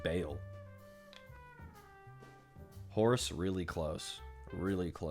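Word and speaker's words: Baal: your services maybe um it's b a a l but no apostrophe Ball but I think it's pronounced Bale horse really close really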